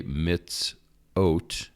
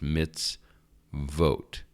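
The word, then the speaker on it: מִצְווֹת: V so it wouldn't it looks like you would say mitz o but it is not it is mitz vote again not this is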